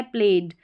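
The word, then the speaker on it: played: जैसे कि यह प्लेड क्या है? प्लेड। ड साउंड आ रहा है ईडी का।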